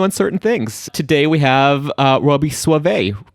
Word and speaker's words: Soave: Today we have Robby Soave, right? Did I pronounce it right?